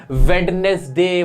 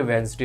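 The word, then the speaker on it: Wednesday: नजर जरूर मान लेना जैसे वेडनेसडे बोलते हैं हम जब कि वेनसडे हो होता है हमें पता नहीं है ठीक है साइलेंट होता है ऐसे ही घोस्ट बोलते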